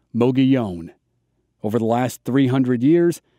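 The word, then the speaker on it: Mogollon: to type the name muggy on rim based on how i'm saying it you'll discover that it's spelled almost nothing like it sounds according to the local pronunciation here in arizona the plateau was probably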